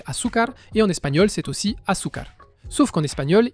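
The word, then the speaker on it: azúcar: D'ailleurs, en portugais, c'est Asukar et en espagnol, c'est aussiar. Sauf qu'en espagnol, il y a un Z et le Z se prononce comme un S.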